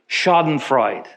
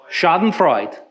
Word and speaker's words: Schadenfreude: Correct my pronunciation. Schadenfreude. Schadenfreude. One more time. Schadenfreude.